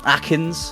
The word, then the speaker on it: aknzx: should be good against Akins, which I've just found out that's how you pronounce that, thank you.